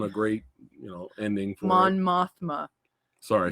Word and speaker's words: Mon Mothma: yeah end on a great you know ending mon mothma sorry I said it wrong no he said mon Mothra Mama someone saying just remember ogp he he